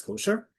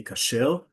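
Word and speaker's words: כשר: the tag on it that indicates that it's kosher. Um, in Hebrew, by the way, we say kashel.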